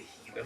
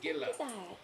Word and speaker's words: Gila: Is she the Heila monster? Well, it's tech it's spelled like Gila. G I L A, but it's pronounced Gila. Oh, like Gilla.